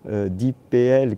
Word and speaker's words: DeepL: Alors vous avez l'outil DeepPL qui est souvent assez précieux parce qu'il s'avère,